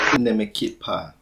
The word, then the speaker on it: Ne me quitte pas: Ne me quitte pas. That's how it's pronounced.